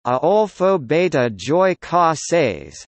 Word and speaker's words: Adolfo Bioy Casares: Adolfo Bioy Casares, Spanish pronunciation, Adolfo Beta Joy Casares, September 15, 1914 to March 8, 1999, was an Argentine fiction writer, journalist, and translator.